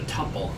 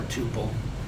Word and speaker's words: tuple: So this right here is a tuple, actually, or tuple. You know, I've heard both pronunciations.